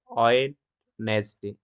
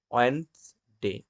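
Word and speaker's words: Wednesday: ঠিক আরেকটি উদাহরণ হলো আমরা বলি অনেকে ওয়েডনেসডে, এটা অ্যাকচুয়াল যে সাউন্ডটা হবে ওয়েন্সডে, ওয়েন্সডে, এটা ডি সাইলেন্ট থাকবে।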